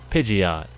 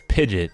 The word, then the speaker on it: Pidgeot: meta strategy called goats Pidgeot commonly mispronounced as pigeon like porky days mispronounced as